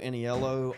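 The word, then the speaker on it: Aniello: Joe Annieello on YouTube if you're here.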